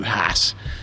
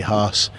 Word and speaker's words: Haas: think i think most people kind of go hats and it rolls off the tongue but um the purists will say haas um i'd just say look fine if you